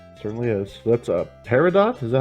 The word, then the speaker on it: peridot: Peridot.